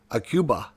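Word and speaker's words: Aqaba: this one here, like, how would you pronounce that name there? Alia? Ayla? Alila? No, it's pronounced Aquaba. Aquaba. That's pronounced Aquaba, I think, is the pronunciation of that.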